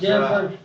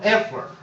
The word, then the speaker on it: Effler: Jared Effler is, Jeffers? no, Effler. Effler.